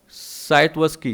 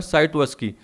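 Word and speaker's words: Scitovsky: अब ये इसका नाम है साइटवस्की, कौन सा नाम है, क्या नाम है, साइटवस्की। वैसे आप देख लेना प्रोनाउंसिएशन गूगल पे, लेकिन मैं इसको क्या बोलता हूँ, साइटवस्की।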